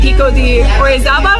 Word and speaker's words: Pico de Orizaba: And I'm really, really hoping that during my time here, I could actually summit Pico de Orizaba.